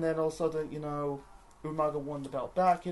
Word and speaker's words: Umaga: to the next match so we got yeah Umaga or Umaga or in the words of Willian William Regal umanga even it's funny like Ral kind even pronounced